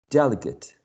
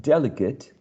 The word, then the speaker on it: delegate: we have to use when we want to use a verb we pronounce this suffix as eight graduate delegate graduate delegate and that